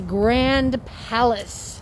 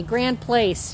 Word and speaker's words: Grand Place: And this is the Grand Palace. Place. Excuse me, Grand Place. You're right. I said it wrong.